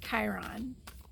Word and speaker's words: Chiron: I think it's Chiron. In case I said that wrong, I believe it's pronounced Chiron. I might have said Chiron.